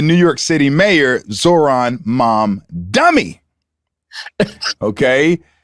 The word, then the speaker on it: Mamdani: York City mayor, Auron Mamdani. Okay. Are you mispronouncing that by somehow? I'm not sure. Mamdani. That's the right way. That's how we say it in the South.